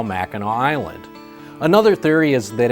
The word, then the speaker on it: Mackinac: They changed the spelling to the way they heard it, ending in AW, Mackinac. So no matter how you see it spelled, English or French, it's always pronounced Mackinac.